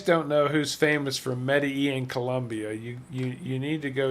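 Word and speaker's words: Medellín: See, I even know how to pronounce it. Medellin.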